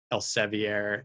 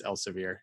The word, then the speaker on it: Elsevier: want to pay like el ceviere and or elsevier i think it's elsevier it's like pronounced how it shouldn't be and we definitely need